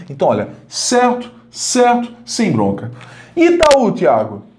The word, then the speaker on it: Itaú: Lembrando que a sílaba tônica é essa segunda aqui, essa segunda vogal, né? Então, vogal mais vogal. Itaú.